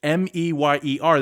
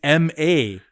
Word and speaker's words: Oscar Mayer: And then the second part was my baloney has a second name. It's Meyer. That's what I thought. But apparently it's Mayer.